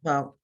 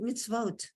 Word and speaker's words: mitzvot: Mem and a chirik is what? Me, E, Me. Meets the oath. Sadi, the sadi has a schwa. It's the end of the syllable. So what's that? Me It's eats. eats, Next to the sadi, we have an independent vav with a dot. Vote. That's vo, it's vote. mitzvot. Right, mitzvot. You know how many times